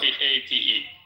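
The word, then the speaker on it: Pape: P A T E. P A T E. Robert Pate like pate.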